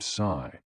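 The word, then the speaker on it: 呬: The 6 sounds are XU, pronounced like shh, with a deep sigh, which is associated with the liver. HE, pronounced like her, with a yawn, which is associated with the heart. SI, pronounced like sir, with a slow exhale, which is associated with the lungs.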